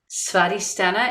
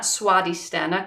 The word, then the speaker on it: Svadhisthana: Muladhara, Svadhisthana, and it's not Swadhisthana because that's 2W. So it's like Svadhisthana, like it's like a VW.